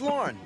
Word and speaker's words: Lauren: My name's Lauren. That's easy to remember. Rhymes with corn.